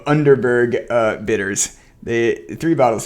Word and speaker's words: Underberg: uh three bottles of unterberg I keep pronouncing it like a fake German of underberg uh bitters the three